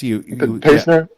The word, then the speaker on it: Pastner: Yes, Pastner.